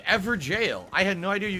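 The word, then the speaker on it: Evergaol: every goal is pronounced ever jail you're supposed to say it like jail oh that's the uk spelling of jail i didn't know that so it's ever jail i had no idea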